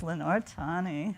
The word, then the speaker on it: Lenore Tawney: And then the last one, Lenore Tawney. Is that the way you pronounce it? Yes, Lenore Tawney.